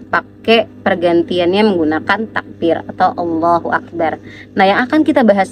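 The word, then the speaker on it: الله أكبر: ada ee tiga ya Yang pertama adalah ketika seseorang itu memanjangkan Hamzah pada bacaan Allah atau bacaan Akbar Jadi mereka bacanya antara Allahnya yang panjang atau Akbarnya yang panjang contoh misalnya ya ini salah enggak boleh nih Allahu akbar nah panjangan a dari kalimat Allah di sini itu tidak diperbolehkan ya teman-teman atau bagian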